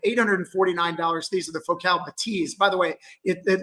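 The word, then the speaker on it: Bathys: At $849, these are the Focal Batiz. By the way, it it looks like it's spelled bathies. Uh, but the French are a little bit different and so it's actually pronounced Batis.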